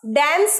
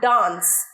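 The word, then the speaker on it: dance: আই ক্যান নট ডান্স ড্যান্স বলবে না অনেকেই ড্যান্স বলো ড্যান্স নয় ডান্স ডান্স বলো আমার সাথে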